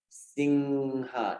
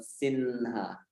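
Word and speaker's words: सिंह: It should not turn into N. It should stay up as a nasal sound. Singha, not Sinha.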